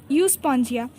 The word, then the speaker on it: Euspongia: साइकन, SYCON साइकन, स्पॉन्जिला, यूस्पॉन्जिया। 3 है जो NCERT में दिए हैं, साइकन, स्पॉन्जिला एंड यूस्पॉन्जिला। यूस्पॉन्जिला मतलब EUSPONGIA, यूस्पॉन्जिया।